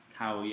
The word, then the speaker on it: Khao Yai: some nice islands but how would we say these in English kind of funny because it's probably mispronounced Thai but most people in English would say Cowie I call hyung and arrow one Falls so you say it that way in English people should understand if they know these